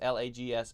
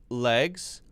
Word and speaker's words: lags: L-E-G-S, L-A-G-S, and L-E-A-G-U-S. Short E, then. Short A, and then long E, E-E. Legs, lags, leagues.